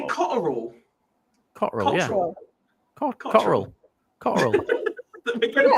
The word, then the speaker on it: Cotterill: Cotterill, yeah. Cotterill. We're going to pick everything up. It's got 3 syllables. Cotterill. Cotterill. That's 3 syllables.